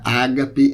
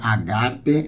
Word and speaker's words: agape: Eu vou deixar outros vídeos explicando a pronúncia, que não é ágape, é agape.